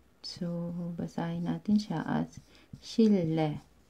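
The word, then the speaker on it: 실내: So, basahin natin siya as shille. Shille.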